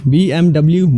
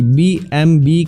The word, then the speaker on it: BMW: पर क्या आपको पता है कि अधिकतर लोग BMW कार कंपनी के नाम को गलत प्रोनाउंस करते हैं। इस कार की कंपनी को अक्सर हम BMW बोलते हैं, जबकि यह गलत है। इसको BMW नहीं बल्कि BMB कहा जाता है, क्योंकि BMW एक जर्मन कंपनी है और जर्मन में